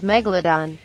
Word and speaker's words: Megalodon: oh yes please according to google the correct pronunciation is Megalodon so you see discovery channel